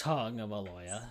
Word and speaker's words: Tagovailoa: He's Tua Tagalong, not Tua Tagovailoa, or whatever you're gonna say his name. Tagovailoa. Yeah, it's Tagovailoa. So there you go.